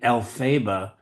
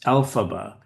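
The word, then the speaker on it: Elphaba: it's very important it's alphaba with stress on the first syllable exactly the way it is in the names Dorothy and Margaret and Hamilton for that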